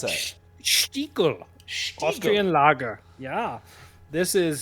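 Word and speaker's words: Stiegl: How do you pronounce that? Stiegel.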